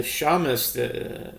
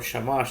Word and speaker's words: shamash: have nine and um the Shamus or shamash depending how you pronounce it um on your pronunciation um is is actually